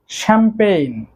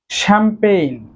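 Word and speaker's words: champagne: তারপর রয়েছে শ্যাম্পেইন। শ্যাম্পেইন শ্যাম্পেইন অর্থ শ্যাম্পেইনি, অর্থাৎ এই শ্যাম্পেইন এক ধরনের মদ। শ্যাম্পেইন খেয়াল রাখবেন সবগুলো ওয়ার্ডে কিন্তু জি এর উচ্চারণ সাইলেন্ট থাকছে।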